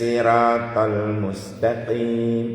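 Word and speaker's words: الصراط المستقيم: Pakai shot. Ingat, pakai shot. Ihdinas siratal mustaqim. Ihdinas siratal mustaqim. Pakai shot. Kuncinya di situ. Nah, seumpama ada imam membaca shotnya diganti sin. Umpama ihdinas siratal mustaqim pakai sin.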